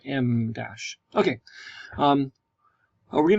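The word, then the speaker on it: em dash: Dash or M Dash M that's e m we say it like the letter M Dash Okay um are we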